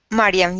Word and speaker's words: Mariam: Am I pronouncing your name correctly? Mariam. Mariam, yes.